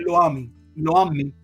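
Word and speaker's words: Lo-ammi: Pasa que como no tiene acento en la última I, es Loami, porque sí, Loami sería si tuviera el acento en la última, por eso lo menciono así, lo pronuncio.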